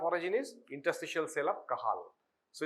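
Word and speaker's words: Cajal: spelled as C but it's spelled as J they pronounce as H so similarly is kahal it's not kaj okay kahal so cell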